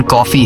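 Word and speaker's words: Coffey: जिस पर जॉन ने कहा कि मेरा नाम जॉन कॉफी है पीने वाली कॉफी। लेकिन स्पेलिंग थोड़ी अलग है।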